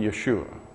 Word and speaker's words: Yeshua: And it could also be pronounced Yahushua or simply Yeshua.